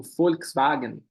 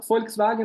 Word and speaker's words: Volkswagen: uma empresa nazista mas FK é povo e tem o som de F né povo EAG significa carro tem o som de v ali o w wagen duas palavras para carro